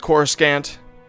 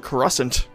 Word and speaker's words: Coruscant: the the part where they weren't sure how to say coruscant like what the pronunciation was in this gaming he calls it core scant which is what i called it as a kid in um star wars rebellion i believe r2d2 calls it crescent it was it wasn't